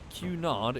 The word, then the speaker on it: Cunard: holy Cunard is the pronunciation says petard cool Okay so let's